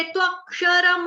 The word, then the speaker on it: त्वक्षरम्: हलंत) हो जाता है, लेकिन मैंने आपको संस्कृत के बारे में क्या बताया था ? आपको हर अक्षर का पूरा उच्चारण करना होगा। यह ' त्वाक्षरम' है, आपको 'मा' का उच्चारण पूरी तरह से करना होगा।